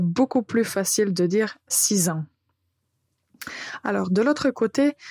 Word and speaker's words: six: consonne finale du nombre ça signifie que vous n'allez pas entendre six ou 6 mais juste si pour 8 on va